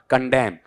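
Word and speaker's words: condemn: कंडेम ने ऐसा जोड़ नहीं दिया जाएगा, कंडेम कंडेम मैं तक पढ़ा जाएगा, नए नहीं बोलना है, नए को यहां पर छोड़ना है।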